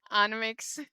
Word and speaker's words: NMIXX: Or should I say Nmixx, like people that I love their pronunciation. Nmixx.